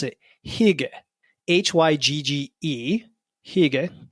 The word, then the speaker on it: hygge: It's a Danish concept called, I think this is how you pronounce it, hygge, Hygge, hygge.